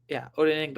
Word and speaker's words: Odenigbo: So between Paye, Latu, Avery, and Odenigbo, Odenigbo is how you say it.